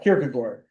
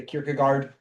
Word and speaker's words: Kierkegaard: It's actually more like you kind of swallow all your your vowels.